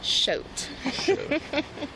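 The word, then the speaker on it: Choate: yes last name c-h-o-a-t-e how the hell do you say that shout I said coat but close enough uh what's your uh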